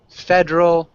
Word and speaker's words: federal: So federal is one word. It's kind of got a silent E. At the end of the word, state, the E is silent too. So a lot of times, at the end of the word, you have the silent E.